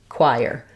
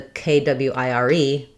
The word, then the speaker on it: choir: So you can see why these letters, in both cases, they don't really tell you choir.